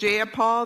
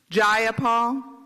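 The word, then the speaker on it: Jayapal: you agree with Miss ja Paul that there was no takeover was just ja if you're going to say my name please say it right it's jaul jaia Paul do you would you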